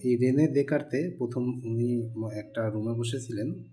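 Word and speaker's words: Descartes: তো এই স্থানাঙ্ক সম্পর্কে সর্বপ্রথম মাথায় আসছিলেন একজন ফরাসি গণিতবিদ তার নাম হল ডেস কার্তিস আসলে তার নামের উচ্চারণটা ডেস কার্তিস হলেও তার নাম হল দে কার্তে বাংলায় হবে দে কারতে যারা গণিতের ছাত্র বা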